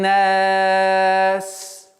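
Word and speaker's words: النَّاس: Звук син, свистящий звук, нельзя прервать резким остановкой, потому что свист прекращается, и правильное произношение звука син невозможно будет. То есть куль а'удhu би раббин нас невозможно. Нас. Доли секунды нужно удержать.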